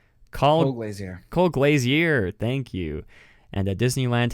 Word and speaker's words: Colglazier: I have no idea how to pronounce this man's name. Colgeiser. Colglazier.